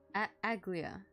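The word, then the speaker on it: Aglaea: a a aglia aglia that's how you pronounce it aglia it's just that a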